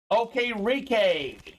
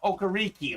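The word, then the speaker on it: Okereke: I got it right I know it's not okariki looks like okariki that is not the right way to say the name nonetheless Bobby is a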